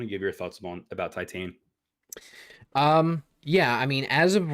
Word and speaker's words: Titane: But Josh, I watched a movie called Titane, I believe is how you pronounce it.